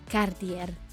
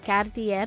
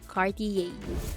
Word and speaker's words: Cartier: the respect they deserve Cartier don't worry if you can't roll your r as the French do it is not necessary additionally Cartier is acceptable but not Cartier number nine shofa another